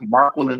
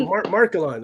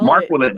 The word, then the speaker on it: Marquelin: Yes, it is actually pronounced Marquelin, so you got it. Okay, Markelon. That wasn't Markelon. No, you gotta roll Marquelin. it. So it's like Jacqueline, but it's Marquelin.